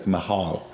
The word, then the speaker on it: Michal: I would call her Michal, but it's like they have the C silent. It's like Mehal, or Michal.